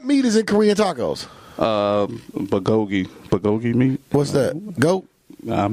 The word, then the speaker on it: bulgogi: Bulgogi meat.